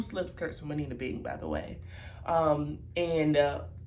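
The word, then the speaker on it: Anine Bing: Because sometimes I feel like I hear Annie Bing or I hear other pronunciations, but it is pronounced Anina Bing, and I think that might be one of their flagship stores.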